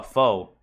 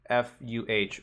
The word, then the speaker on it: pho: go for uh foe I know it's pronounced F I'm sorry I know I know actually let me let me make sure I'm not gaslighting myself I'm pretty sure it is f yeah it's pronounced Fu but I'm going to be an ignorant American and I will say foe until the day I die unless someone really